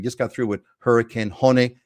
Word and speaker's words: Hone: got through with hurricane hon it's not hurricane hone by the way h o NE e it's not hurricane hone it's hurricane hon uh but anyway we